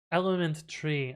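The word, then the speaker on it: ElementTree: I'm thinking you're pronouncing elementary. What is the word? Element tree.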